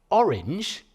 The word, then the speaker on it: orange: on the second syllable orange is a Troy do dumd it's the wrong way round so if you're going to end a line orange isn't great if you're using I Bic